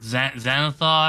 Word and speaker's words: Xanathar: Xanathar, am I saying it right?